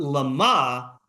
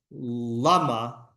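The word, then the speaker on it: למה: In the first case, the stress is on the syllable ma, and the question is ma, for what purpose? Presumably there is a reason for it, but the object to be achieved by it is incomprehensible. In the second case, the stress is on the syllable la, on the reason.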